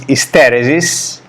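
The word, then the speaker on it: isteresi: Another common concept is hysteresis. In Italian it would be hysteresi, with an accent on the first E.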